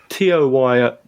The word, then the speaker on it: Toyo: T-O-Y-O does in fact rhyme with yo-yo.